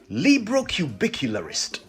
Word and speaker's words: librocubicularist: mouthful are you ready librocubicularist l-i-b-r-o-c-u-b-i-c-u-l-a-r-i-s-t librocubicularist a seven-syllable word now i wonder whether